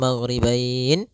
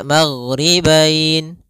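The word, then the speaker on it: المغربين: Maka kita boleh membacanya maghribain 2 harokat, maghribain 4 harokat, maghribain 6 harokat.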